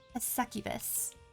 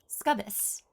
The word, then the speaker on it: succubus: It's the one with the succubus, which I, younger Ami, would have pronounced Scubbus.